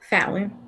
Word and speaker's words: Fallon: I want to get the pronunciation correct. It is Fallon.